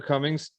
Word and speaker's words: Comings: people spell it but just think of think of the opposite of Goings that's that's how my name is spelled Cummings opposite of going I